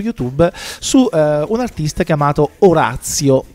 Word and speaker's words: Oratio: su un artista chiamato Orazio. Immaginiamo che la grafia Oratio si vada pronunciata alla latina, ma detto questo non ne siamo poi del tutto sicuri.